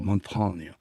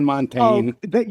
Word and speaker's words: Montaigne: radio interviews I do, they all go Montagne. And I Yeah, said, listen, right. I'm from rural Wisconsin. If I say Montagne, it's going to sound really, I'm saying Oh, Montaigne.